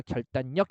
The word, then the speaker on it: 결단력: 돼요 비음화 되는 거죠 그래서 얘는 결단 더하기 력 해 가지고요 니은 받침으로 끝나는 이음절 한자죠 거기에 역 왔으니까 결단력 이렇게 되는 거고 물론 결단 이렇게